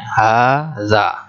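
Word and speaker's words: هذا: Tapi itu tata cara pengucapannya. Haza harus dipanjangkan.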